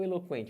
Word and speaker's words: eloquente: E olha o eloquente, você tem o QU, mas nesse caso ele não é dígrafo. Por quê? Porque você fala o U.